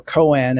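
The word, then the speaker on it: koan: ancient and old zen cone or Coen as it's often pronounced and that is a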